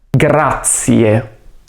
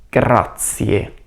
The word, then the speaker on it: grazie: Grazie. Quindi attenzione alla pronuncia della lettera R e non dimenticare di pronunciare la E finale. Grazie.